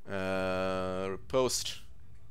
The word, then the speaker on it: riposte: So how do you pronounce it actually? Riposte.